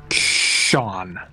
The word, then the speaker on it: shone: So, I always pronounce S-H-O-N-E Sean.